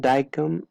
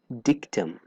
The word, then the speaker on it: dictum: is daikum all right it's not daikum is dictum right so what is